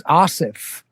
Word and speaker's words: Aasif: It's Aasif. Aasif. Yeah. Aasif. So it is the softer like Anna.